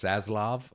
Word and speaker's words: Zaslav: That's Zaslav. Okay. Zaslav, sorry. Zaslav. But I think it's pronounced Bro, Zaslav.